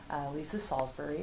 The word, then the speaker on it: Lysa Salsbury: So for it, I'm interviewing the director of the Women's Center, Lysa Salsbury. Did I pronounce that right?